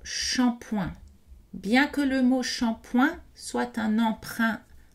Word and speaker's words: shampoing: attention aux mots shampoing bien que le mot shampoing soit un emprunt à l'anglais est d'origine indh et on le prononce avec des voyelles nasale shampoing et petit rappel à savoir les terminaisons verbal